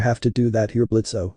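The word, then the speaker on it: Blitzø: to do that here blitzo the O is silent the impen charge ranted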